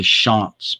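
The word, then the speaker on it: Shantz: bobby schantz i'm sorry it's actually bobby schantz by the way it's not chance we all pronounce it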